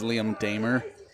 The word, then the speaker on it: Liam Damer: As now, I'm pretty sure we were mispronouncing it last game, and it is Liam Damer.